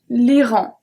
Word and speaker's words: Iran: Next one, same one that in English, l'Iran. Different pronunciation.